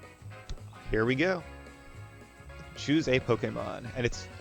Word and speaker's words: Pokémon: Choose a Pokemon. And I believe it's correctly pronounced Pokemon, actually, even though everybody says Pokemon, or people who know nothing about it say Pokemans. But I'm going to try